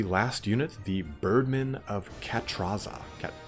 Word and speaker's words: Catrazza: Cat- Actually, Cat- Catrazza. Maybe probably. Yeah, just not 100% sure on the pronunciation on that one. C A T R A Z Z A. There are times in um the Italian words where the double Z isn't a It's like a a T sound, like a Mario Puzo.